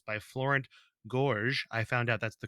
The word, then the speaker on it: Florent Gorges: playing cards to Game and Watch it's by Florence Gorge I found out that's the correct pronunciation according to the Internet so yeah we're